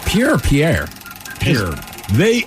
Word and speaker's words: Pierre: said Pier or Pierre Pier they apparently it's pronounced Pier but it's spelled Pierre that's what I heard